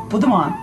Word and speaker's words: Beaudiment: and my special guest this afternoon is Budan yes how do you say your name say it as you say as you say it you